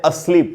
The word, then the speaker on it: asleep: अस्लीप word जो है दोस्तों, इसका प्रोनाउंसिएशन इस तरीके से है। आप देख रहे हैं ये आधा अ है। आधा अ हिंदी में नहीं होता, लेकिन इंग्लिश में आधा अ का साउंड लिए हुए श्व साउंड होता है।